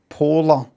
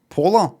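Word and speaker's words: Poehler: Polar polar like polar polar bear, right?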